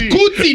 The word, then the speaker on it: Kuti: It is Kuti, not Kun. It's Kuti. Oh, Kuti, Two not syllables.